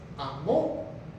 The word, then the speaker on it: amó: Dice Juan 3:16, de tal manera Dios amó, con acento en la O, que quiere decir pasado.